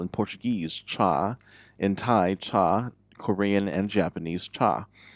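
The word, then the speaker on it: 茶: Chá is, of course, tea. And that's how we pronounce it in Mandarin.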